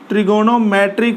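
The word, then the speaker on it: trigonometric: Algebraic function, T का मतलब हो गया ट्रिगोनोमेट्रिक फंक्शन, ट्रिग्नोमेट्रिक फंक्शन, ओ साइलेंट रहता है यहाँ पर बोलते समय, और ई का मतलब हो गया एक्सपोनेंट या एक्सपोनेंशियल फंक्शन।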